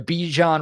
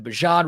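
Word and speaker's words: Bijan: The Be John Robinson comparison. Sorry, the Bjan Robinson comparisons. He told us how to pronounce his name, so I got to make sure I pronounce it right.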